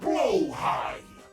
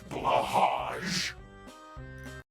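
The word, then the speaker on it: Blåhaj: For the last time, matey, their name be pronounced Blowhigh, not Blahaj.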